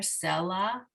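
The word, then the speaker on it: סֶלָה: So it's telling us to put the emphasis on the first syllable here, selah.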